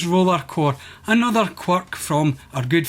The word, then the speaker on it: Rollercore: But it doesn't get pronounced Roller X Core, it's just Rollercore.